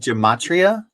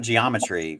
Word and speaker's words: gematria: And then gematria, the word is not geometry, right?